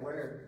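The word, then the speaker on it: Wiard: Then the Weard 6-pounder, is that pronunciation right, John? Yeah. Okay. Weird.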